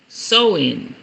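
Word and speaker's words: Samhain: stigma upon it okay I mean like Halloween sewing sewing chain I said it right sewing sew in s-o-w-e-n that's how you pronounce it it ain't even spelled like that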